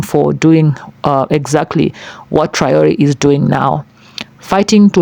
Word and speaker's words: Traoré: Yeah, it's Triori. Yeah, Triayor, like you make it sound like there are two e at the end, but it's one.